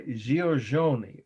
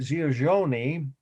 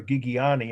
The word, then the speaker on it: Giorgione: Well, let's start with the fact that Giorgione is, or Gigiani, as my aunt in Indiana used to pronounce it.